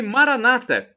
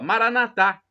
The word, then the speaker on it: Maranata: o seu bem e Maranata com a tônica na penúltima sílaba como dizem os nossos irmãos evangélicos ou Protestantes e tem essa pronúncia preferem essa pronúncia Maranata ou então como dissemos nós católicos com a tônica na última sílaba Maranatha importa são todos